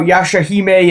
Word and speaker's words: Yashahime: So today we are talking about Yashahime. Yes, I'm pronouncing it correctly because I looked it up.